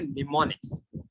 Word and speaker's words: mnemonics: बाय द वे जो एम है ना ये साइलेंट है, तो हम बोलेंगे निमोनिक्स। अब तुम बोलोगे निमोनिक्स का मतलब क्या?